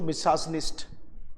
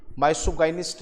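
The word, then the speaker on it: misogynist: से घृणा रखता हो, पर इसकी प्रोनाउंसिएशन होती है बच्चों मिसाजनिस्ट, मिसाजनिस्ट, माइसोगाइनिस्ट नहीं होती, इट्स मिसाजनिस्ट।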